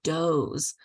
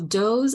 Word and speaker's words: Does: people so right here sometimes people want to say does because of course it's spelled like does this is the plural of John and Jane Doe so does one through 25. so doze allows you to I